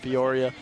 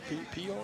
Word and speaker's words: Peoria: Ian Patterson nearly reeled in there from Torrin Hill, the tight end out of Peoria, Arizona. Is that how you say it? Peoria? Peoria?